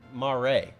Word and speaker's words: mare: derived from the italian word for c yeah ma ray mare that's the pronunciation italian i don't so the are you